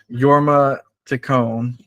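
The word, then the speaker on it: Jorma Taccone: excuse It's Gonna Give me the way to pronounce his name yorma Tone got it and AKA schaer I couldn't remember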